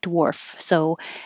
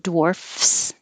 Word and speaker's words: dwarfs: say the plural of dwarf. So if it's singular, it's an F, dwarf. And so you can put an S on it and make it plural dwarfs.